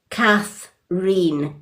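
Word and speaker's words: Kathreen: is actually pronounced cathine.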